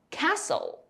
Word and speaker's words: castle: BT 结尾 B 不发音 Doubt.Debt, M N 结尾，N 不发音，Autumn, Column, 最后一个 S T L E 结尾，T 不发音，Castle, Whistle, 点我头像来我直播间一起学习吧。